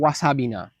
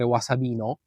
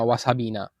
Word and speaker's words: wasabina: This one is called wasabina. In Italian, I often hear it called wasabino, but in Japanese it's called wasabina.